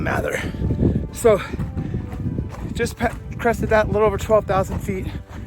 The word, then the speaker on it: Mather: Depends on probably what part of the United States you're from, how you pronounce it. I'll call it Mather.